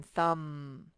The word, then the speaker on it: thumb: mb that says this time the b is silent this just says like in thumb and then lk sometimes